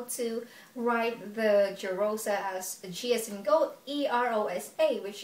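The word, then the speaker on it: Jirosa: my real name is jerosa and i think i kind of assumed it to myself that i am because my name sounds like jerusalem but then the spelling is different it's spelled as j-i-r-o-s-a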